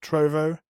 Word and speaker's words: Trovo: pronounced the sightseeing trophy it's like trove but with a no at the end instead of a knee trove trovo and also at sod